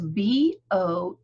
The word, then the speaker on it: Boehm: because it's not like it sounds. It is Boehm, Boehm, and Toni with an I.